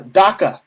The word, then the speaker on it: DACA: it's just like uh DACA okay it rhymes with Kaka because DACA is Kaka